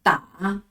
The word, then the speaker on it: 打: 今天的第一个字是的啊打，的啊打。